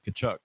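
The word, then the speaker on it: Tkachuk: Silent T. I always tell people, "Hey, how do you spell Kachuk?" They start to see. I'm like, wrong. It's TK.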